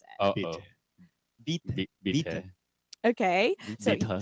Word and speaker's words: bitte: It's bitte. Bitte. Oh. Oh, it's like bitter. Bitte.